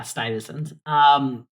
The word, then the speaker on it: Stuyvesant: know like how you stacked up versus the Stuyvesant kid. I can't pronounce that school's name. Yes, definitely. Yeah. Sty, right? Isn't it Sty something? Yeah, Stuyvesant.